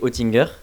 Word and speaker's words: Oettinger: Mais effectivement, ouais, ça s'écrit Oettinger, comme tu l'as prononcé. Et suite à une francisation d'un nom suisse initialement, ça se prononce Oettinger, mais ça s'écrit Oettinger, ouais, exactement.